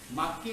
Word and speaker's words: makgi: Makki means block. Okay? We write it as M-A-K-G-I, but the pronunciation is makki.